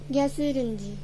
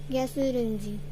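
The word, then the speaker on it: 가스레인지: Now I'll teach you how to pronounce it. Gasurenji. Gasurenji. GASEURENJI.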